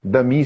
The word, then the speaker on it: Damis: Dami se escreve Damis, né?